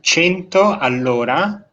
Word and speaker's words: 100 all'ora: So we pronounce in Italian 100 all'ora, which means 100 kilometers per hour.